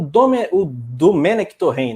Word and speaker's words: Domènec Torrent: Você elogiou a escolha, mas o Domenech Torrent, né? Essa é a pronúncia.